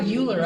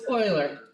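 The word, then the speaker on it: Euler: she's done that though it does look like uler I agree and until you know hear the correct pronunciation you're going to say you but it's in fact Google how do I pronounce Oiler don't do it now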